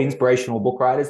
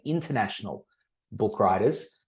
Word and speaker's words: Inspirational Book Writers: That is one thing that people often mispronounce. It is called inspirational book writers. They often say international book writers.